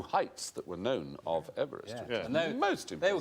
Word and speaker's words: Everest: No, we shouldn't call it Mount Everest because he didn't pronounce his name Everest. He pronounced it Everest.